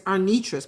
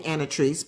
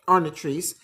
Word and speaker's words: Arnitris: Cuz my name is Arnitris. People would call me Anatrice, but Arnitrice.